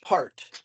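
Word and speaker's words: Pärt: like there's there's an Estonian composer named arvo part or it's pronounced per p a r t with an O out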